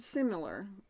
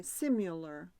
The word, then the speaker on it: similar: The word similar. How do you say it? Similar. Similar. See, I say simular. And that's actually two different words.